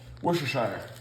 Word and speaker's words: Worcestershire: i am british and i'm going to tell you how to say this right you're going to dive into the r worcester worcester shire so you see worcester shire you're going to dive into that r like it's two syllables worcestershire sauce there you